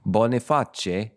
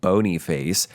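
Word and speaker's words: Boniface: a stroke his successor bonae spelled b o n i f a CE like bony face but since it's Italian it's a bona his successor his successor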